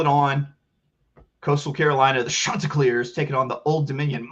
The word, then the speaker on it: Chanticleer: Old Dominion Monarchs, Chanticleer. That's how you have to say it. You gotta really pronounce the sha.